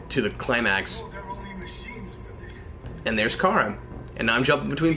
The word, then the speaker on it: Kara: No, it's pronounced Kara.